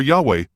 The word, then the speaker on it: Yahweh: place of his name yod hey VAV hey or Yahweh as we pronounce it Moses stated in Deuteronomy